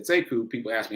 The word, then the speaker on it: Sekou: the same name he pronounces it differently he pronounces it siku siku but it's spelled the same so when i came along i said seku people asked me how to spell they're like